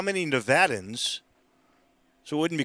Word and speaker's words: Nevada: pennsylvania or from georgia by the way it's pronounced nevada i'm just saying i have family from nevada